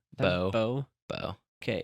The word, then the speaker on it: Beau: So it's either How do you pronounce the name spelled Beau? Beau. Beau. Bo.